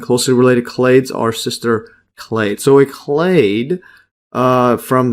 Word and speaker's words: clade: species and closely related clads are sister clads yeah and I just had a quick search on Google I think it's pronounced clay well that's what they say clay so not clad so continue back that